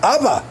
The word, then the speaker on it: Abba: es nuestro padre celestial que en hebreo se pronuncia Abba Oiga Abba nuestro padre